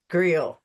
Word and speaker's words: Gruehl: Gruehl. You even told me. Rhymes with you.